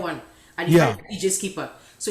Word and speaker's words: Skeeper: For those, it's not a regular skipper, it's Skeeper, like double E.